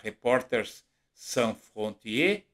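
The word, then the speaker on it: Reporters sans frontières: Que é a Reporters San Frontier, né? que na verdade é o nome certo. Eh, em francês é a pronúncia certa, eu di a pronúncia errada agora a pouco e mostra que o Brasil melhorou muito.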